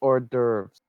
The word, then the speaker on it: hors d'oeuvres: No, it's pronounced hors d'oeuvres.